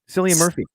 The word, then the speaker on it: Cillian Murphy: Oh, Cillian Murphy. Is that how you pronounce his first name?